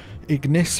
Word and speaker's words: Ignis: Ignis rhymes with miss.